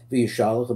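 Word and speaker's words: Vayishlach: Vyishalach, the apostle of the Eloch HaMelochim, and it goes to a Vyishalach, we said it's the right way to say it.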